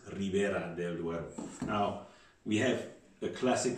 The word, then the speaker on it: Ribera del Duero: and four are liberated in spanish it's ribera del duero now we have a